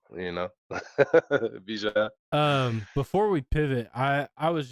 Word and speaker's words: Bijan: So say it right, Bijan. You know, Bijan.